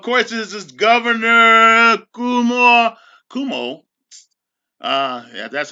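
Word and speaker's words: Cuomo: issues just of course this is governor kumar kumo uh yeah that's how you pronounce his name signing legislation to as you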